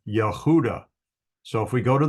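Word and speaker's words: יהודה: of a uh hay then you've got VAV and doot or a v sound and a D sound so she called his name name Yehuda so if we go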